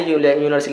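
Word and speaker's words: university: ए यूनिवर्सिटी हो जाएगा, क्योंकि यूनिवर का प्रोनाउंसिएशन यू से करते हैं, ठीक है, और हिंदी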